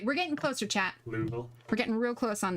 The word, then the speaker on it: Louisville: My ruling on cities and states and locations is the people who live there are the ones who get to pick the pronunciation for it. Louisville, that's what it was.